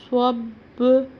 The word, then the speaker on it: صب: با ساکن صب، فن، صب۔ صاد کا تلفظ کا خیال کرنا، یہ سین سے نہ ملے، سب نہیں کرنا، صب۔ با پر ہم قلقلہ